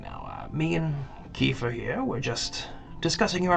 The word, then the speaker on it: Kiefer: How do you spell that? K-E... Like Sutherland? F-E-R. A-E-E. K-E-E. K-E-E. Kiefer. Okay, I said Efer.